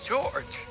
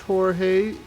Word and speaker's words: Jorge: Oh look, it's George. No one. I don't care about your Spanish pronunciations. I pronounced it wrong on purpose. It's Clutch Jorge for a reason.